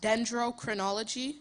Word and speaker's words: dendrochronology: The arborist used dendrochroninology to determine when the fell tree had been planted. And it's pronounced dendrochronology.